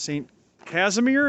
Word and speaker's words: Saint Casimir: 40s 50s they grew up down here that's saint casimir is that how you pronounce it yep polish church and uh north